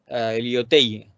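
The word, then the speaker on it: Lyautey: pues ahí ahí pusieron a un tal liot liote liu Tai es que francés aquí lo lo pronuncias y a ver cómo lo buscan en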